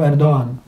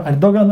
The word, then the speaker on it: Erdoğan: nie wiadomo, bo Erdoğan, bo to się wymawia po turecku Erdoğan. Tam G to jest tylko przedłużenie O, więc tam wszyscy mówią Erdoğan, ale naprawdę to się mówi Erdoğan.